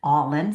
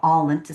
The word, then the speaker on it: Ollin: after we called it All In, spelled with an O, but it pronounced like when you're all into something.